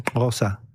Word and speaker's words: Xhosa: Xhosa sería Xhosa. Pero ellos lo pronuncian Xhosa.